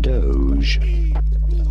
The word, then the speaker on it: Doge: thank you how do you go about pronouncing it Doge Doge pretty straightforward once you know Doge and